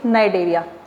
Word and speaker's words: Cnidaria: C is silent, you will pronounce it Cnidaria.